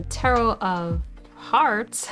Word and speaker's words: Tarot of Hearts: large guide book ah tarot of Hearts it is heart plus art okay so that is how you pronounce it invites you to join